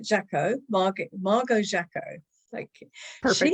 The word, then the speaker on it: Jacquot: And one of them was how to pronounce this delightful lady's name. She is Margo Jacquot. I think I've got it right. Jacquot, Margo Jacquot.